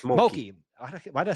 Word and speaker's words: Mulkey: McCulkey. How do you say her? LSU? Mulkey, just Mulkey.